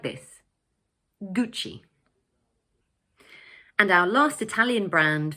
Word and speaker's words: Gucci: In English we pronounce it 'Gucci'. So the word has two syllables and the first one is stressed like this: 'Gucci'.